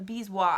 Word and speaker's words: bezoar: Where would you look if I told you to find me a bezoar? A bezoar, I think is how they say it, actually.